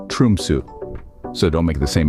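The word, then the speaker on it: Tromsø: Aurora Chasers but remember tromo isn't pronounced tromo it's more like trumu so don't make the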